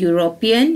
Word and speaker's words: European: can see these words european uniform union and unicorn are vowel letters they are beginning with vowel letters but they make a consonant sound they produce a consonant sound european you sound uniform you